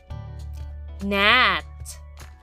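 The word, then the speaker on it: gnat: herself Alice spray some cologne on herself Nat g n a t let's spell it one more time g n a t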